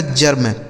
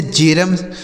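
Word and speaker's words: germ: म, इसे पढ़ा जाएगा जर्म, जी ई आर एम जर्म। इसे जेरम ऐसे नहीं पढ़ेंगे, जेरम नहीं, इसे जर्म पढ़ा जाएगा।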